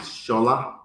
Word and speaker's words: Shola: Shola, I know I mispronounced that, so could you please pronounce it properly first? Thank you. It's Shola Yep.